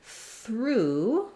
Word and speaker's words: through: Then in the word through, we also have a silent GH, and we have this time the OO vowel.